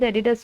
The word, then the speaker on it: Adidas: You can call it Adidas also, but Adidas is a correct pronunciation.